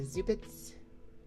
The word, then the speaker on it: Zubat: We have a Zubits from Sachiko Adachi from 2005. It's a Zubat. I am aware it's pronounced Zubat. I just like saying Zubit.